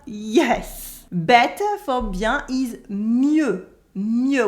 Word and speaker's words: mieux: Better for bien is mieux with a silent X.